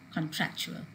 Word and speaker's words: contractual: In the same way, contract and contractual.